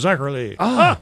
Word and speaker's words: Zacherly: Hubberly rhymes with Zacherly.